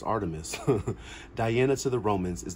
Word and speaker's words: Artemis: your own path the Wilderness is calling Artemis pronounced Artemis Diana to the Romans is the Greek goddess